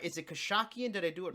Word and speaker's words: Khashakyan: Is it Khashakyan?